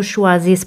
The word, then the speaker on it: choisissent: Como os dije antes, E-N-T, que es E-N-T, no se pronuncian. Ils ne choisissent pas mon travail.